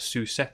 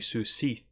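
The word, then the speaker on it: Cat Sìth: something traditionally called the Sioux Seath. You could also pronounce it Sioux Sith, I guess, but it's Gaelic, so I assume it's going to be Sioux Seath.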